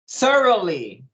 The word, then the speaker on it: thoroughly: u r o u g h l y thoroughly thoroughly uh repeating the phrase that always arrives